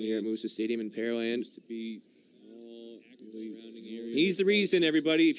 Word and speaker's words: Pearland: of people curious about the pronunciation that pear land the land where they grow pears it's easy way to think of it it's not where they have pearls there's no lake